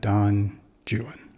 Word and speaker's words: Don Juan: ancient friend Don Jan it rhymes with new one true one and jwan and of course that's not the only time through the poem that he Rhymes Jan so we know it's Jan and although he's talking